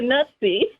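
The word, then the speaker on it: Nuzzi: Olivia Nu zzi and if you know any Italian you know the two Z's together like in Pizza are pronounced as a TS so it would be Olivia nutsy I think is how to pronounced she wrote a piece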